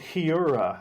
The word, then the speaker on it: Heura: I can find there's a company called Heura. How I don't know how it's pronounced. Oh, I guess okay. there's the H is silent in Spain. Heura that makes like nuggets and patties and various things.